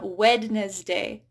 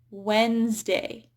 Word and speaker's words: Wednesday: So D is not pronounced in some of these common words, and I often hear non-native speakers say, Wednesday. I'll see you on Wednesday. So it's actually Wednesday.